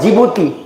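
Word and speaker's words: Djibouti: सा मिलेगा देश देखना डी फॉर जिबूती D silent है उसम दिख रहा है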